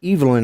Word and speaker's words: Evelyn: Here we call it Evelyn, but they pronounce it Evelyn over there, and it can be either man or woman.